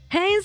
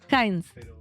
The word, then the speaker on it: Heinz: Recibimos esta mañana a nuestro querido ídolo Heines de Soy Ciencia y cocina. Un aplauso para él. Bienvenido. He, lo pronuncié bien. Heines. Heins.